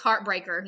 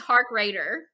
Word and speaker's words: Harkrader: say your last name it's heartbreaker no i'm just kidding it's hark raider hard heart heart say